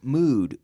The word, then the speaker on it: mood: good we have the the double O sound is pronounced differently its oooo D in both cases but we say good uh-uh and then mood ooh good mood is